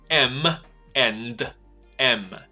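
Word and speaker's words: M&M's: 巧克力，你要把它念成 M and M。因为 M 这个字母必须要闭嘴巴，所以 M 必须闭一次嘴巴，and 不用，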